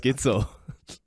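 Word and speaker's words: Gidsel: play a major competition my last name rhymes with schnitzel hello my name is Matias gitzel oh snitel yeah that's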